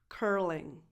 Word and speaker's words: curling: Number 7, curling. Curling. Same sound they have in the word first. You need to protrude your lips a little bit.